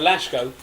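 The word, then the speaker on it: Laško: yeah spell l-a-s-k-o but it's pronounced sh because it's got a little thing over the top of it so lashgo go down there well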